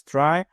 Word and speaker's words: trie: A try pronounced as try or prefix trees is a tree data structure used to efficiently store entry retrieve keys in a data set of strings.